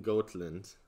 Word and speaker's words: Gotland: He's in Gotland. Gotland is actually how you pronounce it, but I'm gonna say Gotland.